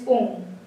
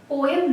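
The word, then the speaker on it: poem: Next question, she डिड not bring out the meaning of this पोम। पोएम नहीं होता, इट is pronounced as अ पोम, right.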